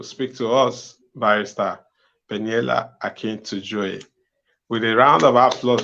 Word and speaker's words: Akintujoye: My goodness, I thought I have learned how to pronounce it. Yeah? Akintujoye.